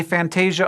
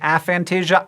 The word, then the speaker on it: aphantasia: I say aphantasia, other people say aphantasia. I think aphantasia sounds better, and if we are collectively right now in the process of deciding what the pronunciation is, we should go with the cooler sounding one.